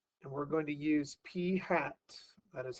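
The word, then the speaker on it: p̂: is a statistic and we're going to use P hat that is how you pronounce this P hence with the caret up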